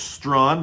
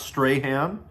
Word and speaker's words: Strawn: His name is Strawn, not Strahan.